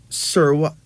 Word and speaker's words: Serwa: So they call her Serwa, which is spelled Serwa, but pronounced as Serwa, like Sairwah, but spelled Serwa, pronounced as Serwa.